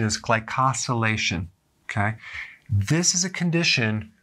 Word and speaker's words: glycosylation: And the pronunciation is glycosylation.